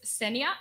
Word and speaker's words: Senja: name uh so it's senia imagine the J is why and if you have a hard time remembering things uh uh I'm not the tea person sencha but a coffee person uh like Kenya because Kenya produces like